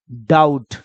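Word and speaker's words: doubt: अब यहां देखो बी टी, बी के बाद अगर टी हो तो हमेशा बी साइलेंट बोला जाता है, टी का उच्चारण ले लेंगे ट, तो क्या हो जाएगा, डाउट।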